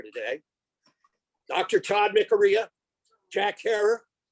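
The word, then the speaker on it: Herer: Todd Mikaria, Jack Herror, who always insisted that his name rhyme with terror.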